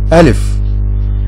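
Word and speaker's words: ألف: Put your hand on your throat and make your throat vibrate.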